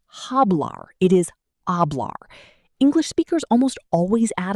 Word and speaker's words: hablar: In Spanish, the letter H is always completely silent.